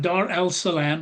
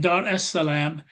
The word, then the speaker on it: Dar es-Salam: Christianity renders unto Caesar that which is Caesar's, but Islam divides the world into the Dar es-Salam, Dar el-Salam, pronounced in Arabic, Dar es-Salam, or the abode of peace.